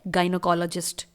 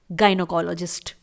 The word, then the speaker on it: GYNECOLOGIST: Medical language में English में बोला जाता है गायनोकोलॉजिस्ट। स्पेलिंग देखिए GYNECOLOGIST। इट्स गायनोकोलॉजिस्ट।